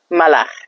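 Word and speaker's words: ملخ: Malach. Malach. Okay? Malach. Grasshopper. Malach. Malach. There's a khay in there. There's a kha in there. Khay is the letter in Dari.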